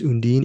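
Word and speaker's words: Undine: so we covered Phoenix we covered un din or as Eric likes to put it undina because that's that's how they pronounce undeen in the movie and of course Transit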